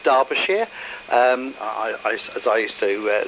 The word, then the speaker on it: Derbyshire: it's it's actually pronounced derbyshire um i i used to live very close to derbyshire um even though it's not spelt like that as with so many things from the uk but there we are